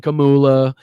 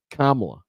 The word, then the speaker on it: Kamala: Harris it's not Camila it's not it's not uh Kamala it's not kamula it's not shashula it's not anything else it's kamla that's how you say her name Kamala now you might